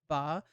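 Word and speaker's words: 八: Taiwan, it's celebrated on August 8th, as the Chinese for the number 8 is pronounced ba, while a colloquial word for the father is baba.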